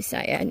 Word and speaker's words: Seiad: It is actually Seiad, not Seiad. So, anyways, I'm gonna get my butt hiking and get down this mountain.